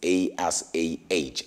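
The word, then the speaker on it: Asah: I believe that's how you pronounce it, right? Because it's A-S-A-H, Asa.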